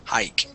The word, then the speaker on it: hike: Yeah, so that E is silent at the end, and this is a long I sound, hike.